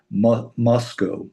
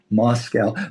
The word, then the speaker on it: Moscow: Moscow. because that's not and somebody said one time they said there are no this is how you know how to say it. There are no cows in Moscow.